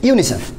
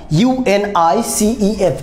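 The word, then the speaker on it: UNICEF: এভাবে উচ্চারণ করছি না ইউএনআইসিইএফ এভাবে বলছি না কীভাবে বলছি একটা কমপ্লিট ওয়ার্ড আকারে উচ্চারণ করছি that's why it's call acronym কী বলা হচ্ছে অ্যাক্রোনিম আর অ্যাক্রোনিমগুলোর আগে কখনো আর্টিকেল বসে না।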